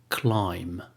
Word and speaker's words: climb: Daud another example of they be not being pronounced thun thun another example climb climb ah ah like the word they're the